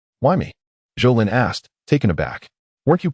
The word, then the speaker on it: Zhou Lin: Zhou Lin. Correcting the pronunciation, Zhou Lin spoke eloquently.